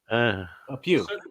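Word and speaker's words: più: How do you spell that? P-U-I, I think? Or P-I-U? We. Pew.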